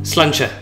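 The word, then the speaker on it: Sláinte: Slancha.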